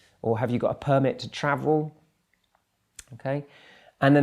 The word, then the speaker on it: permit: disagreement there and the last example is permit permit used as a noun and permit permit and